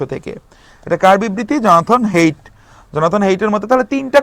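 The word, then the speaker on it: Haidt: মানুষের মনে ওকে Jonathan হেইট হেইট ওই যে প্রথম আমরা ডেফিনেশন দেখেছি সেগমেন্ট নাম্বার টু তে জনাথন হেইট উনাকে আবার হার্ডিড বইলেন না হ্যাঁ উনার উচ্চারণে উনার নামের যে স্পেলিংটা সেখানে ডিটা সাইলেন্ট থাকে তো জনাথন হেইটের মতে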